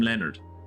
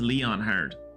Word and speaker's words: Leonhard: King Leonhard, I'm not calling him Leonard. I know that they pronounced it Leonard. His name is Leonhard.